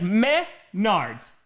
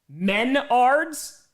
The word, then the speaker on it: Menards: Yeah, it's like meth nards, right? Meth nards. Menards.